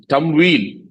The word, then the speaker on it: Tamwil: Arabic it means wealth in fact the right pronunciation is tum whe but uh for all branding and other purpose